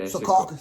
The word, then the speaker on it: Secaucus: Yeah, Secaucus.